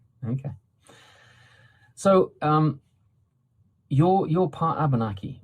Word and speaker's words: Abenaki: The emphasis is usually on the third syllable from the end, Abenaki, and that's true of most of our Algonquin languages all across the continent.